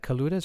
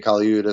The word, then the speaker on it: Colaiuta: And it says, Vinnie Colaiuta says, is that Colaiuta? Am I pronouncing that right? I know the name. Colaiuta. Yeah. Vinnie Colaiuta.